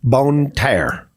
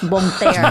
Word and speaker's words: Bon Terre: They're giving it's a Bone Terror. Oh my gosh! She says it like a Yankee sometimes. No, it's actually in French. It's Bon Terre.